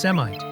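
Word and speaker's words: Semitt: And we're preparing to head to the Summit Falls Mine. And before anyone says it, yes, we know it's actually pronounced Semite, with an E.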